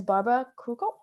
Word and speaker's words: Barbora Krukow: Her name is Barbara Krukow.